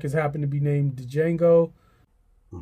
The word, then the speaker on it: Django: This track has happened to be named Django. Or Django, because the D is silent.